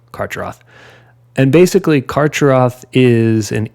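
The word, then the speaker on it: Carcharoth: pronounced different ways but I'm gonna go with the pronunciation of karch Roth and basically karcheroth is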